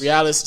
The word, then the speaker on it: Briales: do you say your last name again realest realest senior so you got a royce realest junior